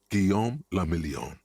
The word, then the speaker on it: Guillaume Lamillion: meant only one thing guillaume lamillion if it doesn't rhyme you're not pronouncing it right out of the dazzling